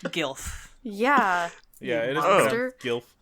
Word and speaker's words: GILF: Like, all right, Jilf. Jesus Christ. Jesus. Also, we all know it's pronounced GILF.